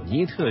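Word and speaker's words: NEET: 一个名词叫你读作尼特就好。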